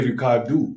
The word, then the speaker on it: Ricardo: But here they say Ricardo. Ricardo. Right? They barely, right, George? Because they barely pronounce the O.